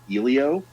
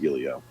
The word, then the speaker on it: Elio: if they go their entire review calling it Elio because they say his name over 30 times in the film.